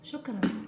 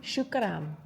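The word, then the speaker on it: شكرا: Shukran. Shukran.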